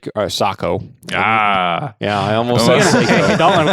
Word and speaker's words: Sako: a hard time for saying woof he says Seiko and it's pronounced Sako yeah which I already knew that but people